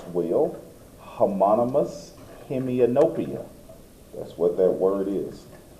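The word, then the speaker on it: homonymous hemianopia: That's a term you want to learn to pronounce. Well, homonous hemianopia. That's what that word is. Hommonous hemianopia.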